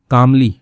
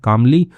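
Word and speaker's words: calmly: अब इंस्पेक्टर सावंत जो हैं कामली ठीक है? इसमें एल साइलेंट होता है कामली यानी कि शांतिपूक लिसंड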